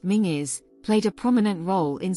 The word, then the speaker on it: Menzies: site it is today the menes clan pronounced mingis played a prominent role